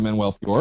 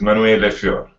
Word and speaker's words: Manuele Fior: right well okay yes the right right pronunciation is Manuel leor but anyway nobody speaks